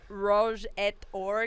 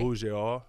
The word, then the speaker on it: Rouge et Or: Rouge et Or games? It's A. You don't pronounce the T. It's E-T makes A. So A, okay. Rouge et Or.